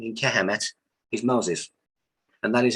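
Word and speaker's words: Kemet: way you think egypt is a greek word kehamet is egypt and that is spelled k-e-m-e-t the k is knowledge emit means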